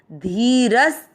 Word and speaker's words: धीरस्: चौथा चरण ध पर ई की मात्रा बड़ी, धी र के साथ आधा स रस, धीरस।